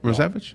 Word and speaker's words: Rozewicz: Correct, unless you want to polish it up a little. How do you polish it up a little bit? Rozewicz. Is that how you say it? Rozevich? Okay. Rozevich. Okay. That's the old country pronunciation.